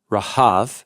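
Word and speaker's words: רהב: So Rahab, the dragon, is from Resh He Beit, Rahav, so it's spelled like it sounds in English, which is from a verb, Rahav, to like a raging storm.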